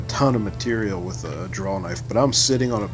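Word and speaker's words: drawknife: tool is called a draw knife because you draw it towards your yourself with a W not with an L at the end how I pronounced it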